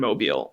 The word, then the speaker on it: Mobile: I've been to Mobile. I've taught students who are directly affected by these policies. Sorry, and I had the urge to be like, it's pronounced mobile.